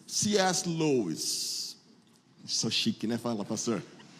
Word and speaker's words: C.S. Lewis: Lewis, ou pronunciando corretamente, cadê minhas professoras de inglês? C.S. Lewis.